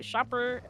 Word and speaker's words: Shopper: So Shopper with a silent S, he became just he hopped until he gets that elimination point.